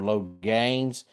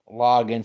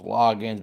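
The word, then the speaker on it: Loggains: be either Logan's or low gains hey there Rob glad to have you here because it has a a in it but they say it's pronounced loggin so I'll go with loggin anyway he was the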